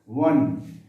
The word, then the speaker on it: one: it is vowel, but we do not pronounce O, we use one व. हिंदी का ये व शब्द हम बोल रहे हैं जो व्यंजन है, कॉन्सोनेंट है, व, वन.